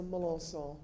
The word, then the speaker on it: Mallos: My name is Mallos. Good French name from South Louisiana.